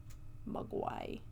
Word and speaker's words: Mogwai: I mean, pronunciation is a long O, not a short U. Mogwai. Mogwai, yeah. Mogwai. No, long O. Mugwai?